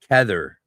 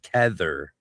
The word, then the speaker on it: Kether: But yeah, in English it's pronounced trmius. Never be shy of saying things in English, people. Tether. Repeat after me. Tether.